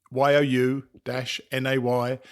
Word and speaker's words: Unaka: Unaka or Unaka Mountain should more correctly be pronounced Unaka. YOU-NAY-KUH.